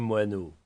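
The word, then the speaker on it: Moinot: Monsieur Laurent, je me nomme Moinau. Mon nom s'écrit absolument comme un moineau. M O i N o t moineau.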